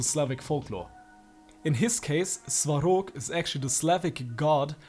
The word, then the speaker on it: Svarog: he so thick damn sok's glorious name is pronounced sarok remember no American ARs and Russians are kind